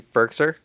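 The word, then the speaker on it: Firkser: name for so long the hall is pronounced Anthony ferkser the old Tennessee Titans f-i-r-k-s-e-r how would you pronounce it Jordan through your life no I think you're right it's just uh it's a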